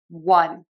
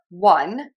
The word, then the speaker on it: one: And we actually say that with the W sound one. So the number one and I won the game.